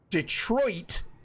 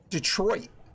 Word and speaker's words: Detroit: city in Michigan and we don't say Detroit like it's spelled we say Detroit and I don't know